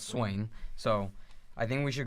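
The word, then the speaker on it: Swaim: Swain who I just learned how to say his last name it's swing so I think we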